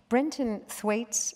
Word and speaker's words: Brenton Thwaites: Brenton Thwaites, am I pronouncing it right?